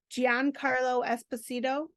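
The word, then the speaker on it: Giancarlo Esposito: role little bit more intense I might be pronouncing his name incorrectly but it's giano Gian Carlo espacito oh my god did I say that wrong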